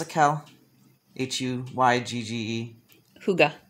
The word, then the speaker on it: hygge: their new album winterperson slash how do you pronounce it kel h-u-y-g-g-e hygge hygge which is a kind of a form of